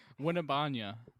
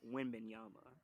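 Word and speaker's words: Wembanyama: whose last name is so goddamn hard to pronounce. Winnebanya. Oh, Winnie. oh, Jason knows it. Say it again, Jason. Winnebanya. But with like a more like Barry White voice. Like a sultry voice. Yeah. Wimbenyama.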